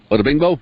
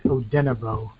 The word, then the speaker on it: Odenigbo: Odebingbo? No, that's not it. I think anyway, moving on. I think I said it wrong too. I think it's Odenigbo. That sounds right. Yep. Odenigbo. Yep.